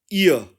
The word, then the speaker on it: ihr: करेंगे तो यह बनेगा इय इय और इसके स्पेलिंग हो जाएंगे आई एच आर और जर्मन में इसके स्पेलिंग बनेंगे ई हा ए य यानी के उस लड़की